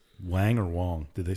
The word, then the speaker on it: Wang: The only reason I asked is because when there was a pitcher for the Yankees whose name was Chin-Ming Wong, it was spelled like Wang, and there was always signs like I heart Wang.